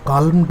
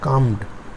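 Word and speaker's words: calmed: হ্যাঁ, এটাও কালমড নয়, উচ্চারণটা হচ্ছে কামড, এলের উচ্চারণ হয় না।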